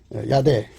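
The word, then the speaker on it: ידע: 한번 발음으로 연결해 볼게요 야대 우리는 보통 야다로 통하는데요 음역이에요 발음은 야대입니다 야대 호그마 학구마라고도 돼요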